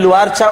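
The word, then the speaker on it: Loire: ती मधली एक नदी आहे नदीचं नाव आहे लुआ एल ओ आय आर इ यापुढे दर वेळेला आता मी स्पेलिंग सांगत बसणार नाही मी सांगेन तो उच्चार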